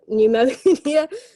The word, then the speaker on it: pneumonia: Okay, we also have a lot of silent letters, a lot of letters which are not pronounced.